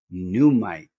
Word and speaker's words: Nuummite: The next stone here we have is called Numite, aka the Sorcerer's Stone. It's spelled kind of funny.